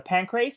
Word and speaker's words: Pancrase: had an interim title fight actually for the Pancrase.